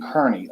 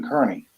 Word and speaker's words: Kearney: You know, I've always called him Aidan Kearney, amongst many other names, but I've called him Aidan Kearney. Yeah. You know, because that's how it's spelled, Kearney. Kear, not Kar.